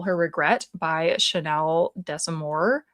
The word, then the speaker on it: Desamore: It's called They Call Her Regret by Chanel Desamore. I think the S is silent at the end.